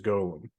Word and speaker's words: golem: The proper Hebraic pronunciation is golem.